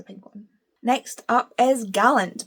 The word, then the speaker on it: Gallant: one next up is Gallant by V Schwab or Galant as some people call it I don't know why people would say it like that I'm pretty sure I say Gallant it might just be an accent thing um again I'm pretty